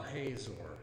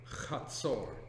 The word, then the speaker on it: Hazor: Tel, well, you'll often hear it referred to as Tel Hazor. The correct pronunciation, Chatzor.